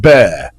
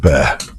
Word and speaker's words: Bexar: san antonio texas pronounced bear don't ask me i'm just a dumb immigrant but thanks for the correction whoever called in whoever texted shadrach okay we get it bexar b-e-x-a-r is pronounced bear 11 learn we are